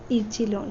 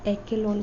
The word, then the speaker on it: echelon: लेकिन उससे भी पहले और एक चीज़ सीखने की हमको ज़रूरत है और वो है इचेलॉन फॉर्म या एक्केलॉन फॉर्म, कुछ भी इसको प्रोनाउंस कर सकते हैं।